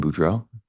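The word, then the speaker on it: Boudreaux: morning morning can you state your name and spell it for the record my name is budro b r a n d o n Buro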